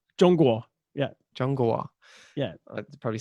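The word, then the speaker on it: 中国: Zhongguo. Zhongguo.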